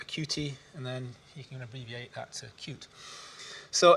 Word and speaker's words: Qt: say what is cute it's pronounced cute be I know how many people are familiar with cute some are some might not be so I'll just give you a quick overview it's called cutie the origins come from